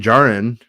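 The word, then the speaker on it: Djarin: that grogu and and din jaren as as i think taz told me it's supposed to be pronounced are are in it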